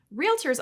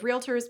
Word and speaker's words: realtor: said, classical Latin scholars believe AE was originally pronounced I, so they probably won't mind if you opt for antennae. Realtors, on the other hand, might mind if you say realtor. In fact, the National Association of Realtors minds it so much that they wrote this